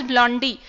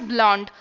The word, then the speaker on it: blonde: Now this is also not pronounced as blondie, this is not blondie guys, this is pronounced as blonde.